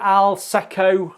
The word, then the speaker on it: Alsecco: Do you pronounce that Alsecco? Alsecco, and it's the I'll say what it is here.